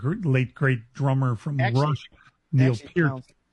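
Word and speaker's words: Pearn: Cole Pern, you remember? I always I was almost gonna call him Pier because I think of the the late great drummer from Russ Pin.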